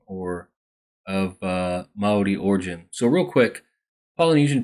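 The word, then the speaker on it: Māori: indigenous people um are the mai people and that's how it said with a long a and then you got to roll the r you know like the Spanish and they have a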